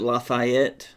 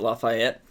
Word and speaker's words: Lafayette: I don't pronounce it Lafayette. That ain't gonna work. I don't pronounce it Lafayette. It's Lafayette. That's my pronunciation of it.